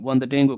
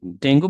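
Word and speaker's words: Dengue: মানে করেছি একেবারে নিরবিচ্ছন্নভাবে ডেঙ্গু ক্রাইসিস ডেঙ্গু ক্রাইসিস এর উপর ডেঙ্গু বলছি বাট উচ্চারণ হবে ডেঙ্গি পাবলিশ নিউমারাস এডিটোরিয়াল অনেকগুলো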